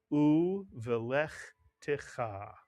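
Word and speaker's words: ובלכתך: First syllable is u, the second syllable is velech, and the third syllable is ticha, mitsuyan. You put the word together, you get u velech ticha.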